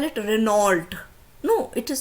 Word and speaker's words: Renault: Okay, then Renault, most of us call it Renault.